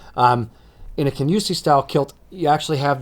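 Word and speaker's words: Kingussie: It's spelled King Usi, but it's pronounced Kenyusi. Um, in a Kenyusi style kilt, you actually have the plates, knife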